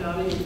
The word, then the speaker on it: Nydia: It's pronounced Nydia. It rhymes with Lydia, and it starts with the letter N.